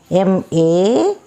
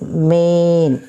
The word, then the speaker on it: mane: M-A-N-E. Ain. This is silent. It is not man. It is as the magic E is added. This is main.